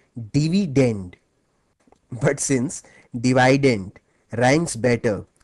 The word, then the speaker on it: dividend: dividend by the way the correct English pronunciation of this word is actually dividend but since divident ranks better with divisor thus the students prefer to call it divident it helps them recall